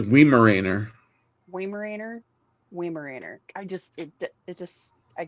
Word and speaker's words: Weimaraner: looks like it's Weimaraner. Weimaraner, Weimaraner. It just I can't do it. Weimaraner. You got Weimaraner. So the WEI is VI. That's how you'd pronounce it. So Weimaraner. Vimarena.